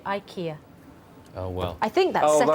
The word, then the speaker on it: IKEA: Mike Hinson Evans says the native name in Sweden and Denmark is Ika yeah but Richard does he now I have looked on the official BBC pronunciation guide yes and we are supposed to say Ikea oh well I think